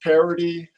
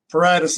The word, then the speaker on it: Paradis: the last name is parody s is silent it's French you can say paratus paradise Paredes is most common missed